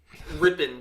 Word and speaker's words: Rypien: it but um just ripping just so you know he pronounces it ripping oh it's ripping he's he's ripping it